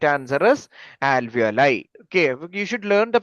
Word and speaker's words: alveoli: Alveol. Alveoli. Yeah. എവിടെയെങ്കിലും നോക്കിയിട്ടാണോ പറയുന്നത്? No, sir. No. Okay. I just cannot read properly. Okay. So the right answer is alveoli.